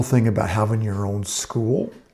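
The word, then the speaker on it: Skool: And that's the beautiful thing about having your own school. It's, by the way, it's spelled S K O O L.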